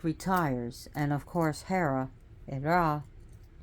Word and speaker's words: Hera: and of course Hera ra because the H is not pronouncing Greece Greek takes over Ray